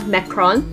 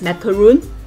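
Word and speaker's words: macaron: than the french dessert we pronounce it over here macron most countries pronounce it as macaroon so small and after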